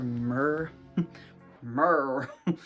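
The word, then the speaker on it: Mir: sometimes she's called it's spelled m-i-r so i always just call her mer mer she doesn't look like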